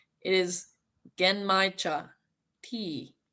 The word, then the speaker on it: genmaicha: I even Googled the pronunciation. It is genmaicha tea.